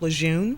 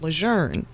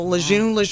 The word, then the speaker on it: Lejeune: For so many years, I've been used to calling it Camp Lejeune, mm-hmm. but I believe the correct pronunciation is Camp Lejeune. So Lejeune, kind of like tomato.